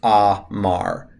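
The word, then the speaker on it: אמר: you see a verb, you just memorize it with A sounds underneath it now. So this would be pronounced amar.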